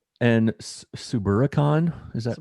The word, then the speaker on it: Suburbicon: And Suburbicon, is that pronounced properly with Matt Damon?